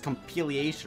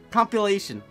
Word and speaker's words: compilation: I was like, compilation. It's compilation. That's how you say it.